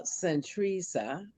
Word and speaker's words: Santresa: support miss uh uh centrisa and she told me i said it right when uh when the show first started i said am i pronouncing your name right she said you said it right so saint theresa uh